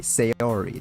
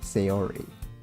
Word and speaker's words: Sayori: Sayori. There we go. Sayori.